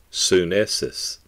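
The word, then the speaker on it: synesis: word translated understanding is spelled s-y-n-e-s-i-s pronounced sunnis the word literally means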